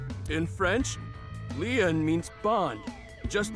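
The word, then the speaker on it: Lien: d sh my name lean is spelled l i e n in French lean means Bond just like t means bond in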